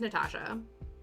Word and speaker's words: Natasha: But the full name is Natasha. The 3 syllables long.